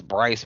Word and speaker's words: Brice: Just search Thomas Bryce, BRICE. It's spelled just like it sounds.